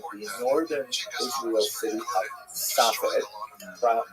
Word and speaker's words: Tzfat: And that is the incredible explosion of spiritual, literary, religious activity that occurred in the northern Israel city of Safed, pronounced in Hebrew Tzfat or Tzfas.